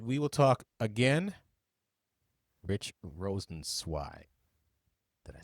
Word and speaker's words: Rosenzweig: Rich Rosenzweig.